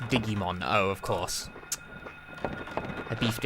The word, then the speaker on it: Digimon: go to Monster Rancher instantly excuse you it's pronounced Digimon oh of course I beefed it yet again